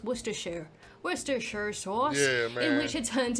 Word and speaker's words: Worcestershire: fluid had Worcester social Worcestershire how do you pronounce worcestershire Worcestershire sauce in which he turned him into a